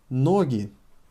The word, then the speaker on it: ноги: But ноги. Ноги. With the emphasis on o, the plural.